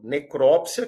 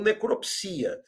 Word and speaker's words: necropsia: E o número 4, necrópsia, que veio com acordo, ou necropsia. Antes do acordo, nós só tínhamos necropsia. Então, você olhando para os números 3 e 4, antes do acordo, veja que o meu aluno só conhecia autópsia e necropsia. Autópsia e necropsia. Depois do acordo, ele passou a poder usar autopsia e necrópsia. Antes, não.